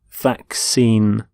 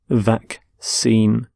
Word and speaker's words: vaccine: a disease so vaccine note the pronunciation of vaccine the 2 C's in the middle the first C is the cur sound the second C is the sound vaccine vac seem and you can have